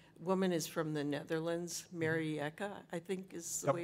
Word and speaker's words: Marieke: probably familiar with, woman is from the Netherlands, Marieke, I think is the way her name's pronounced. Marieke, yep.